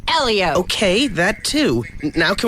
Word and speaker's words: Helio: he wins and I like saying his name Helio keio keio come on he won the Indie